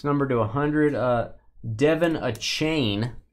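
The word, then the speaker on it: Achane: a hundred this number to 100 uh Devin a chain it's apparently how you say it Devin a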